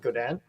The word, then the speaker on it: Godin: like Godin uh it's Canadian Canadian they pronounce it gaudan um this is a